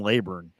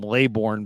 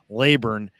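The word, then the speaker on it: Kalen Leburn: watch out for Kailyn laburn and that's how it's pronounced and people call him layborn but it's laburn and you know this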